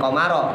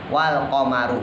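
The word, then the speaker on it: وَالْقَمَرُ: Ya, jadi bukan komaro, tapi wal qamaru.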